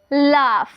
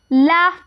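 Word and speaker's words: laugh: उसके बाद है एल ए यू जी एच लाफ। क्या पढ़ेंगे इसे? लाफ पढ़ेंगे। ठीक है? एल ए यू जी एच लाफ। देखिए यहां पे जी एच का जो है ना हम फ का इस्तेमाल करेंगे।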